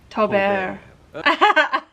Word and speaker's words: Tobert: Oh, so you do pronounce the final T. It's not like a French cheese. Tobert.